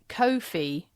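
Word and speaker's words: Ko-fi: this now because it's Kofi rhymes with no fee because it's a no fee platform oh that's good well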